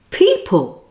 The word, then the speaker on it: people: important exception it's a very common word with the e sound but it is spelt with an eo as in the word can you guess what word it is it's people well now it's practice